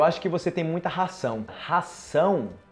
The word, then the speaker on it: ração: E o outro, comida para cachorro, ração, ok? Ração, sa, z, sa.